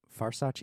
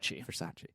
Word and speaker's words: Versace: Is it Farsace? I never say it right. Versace.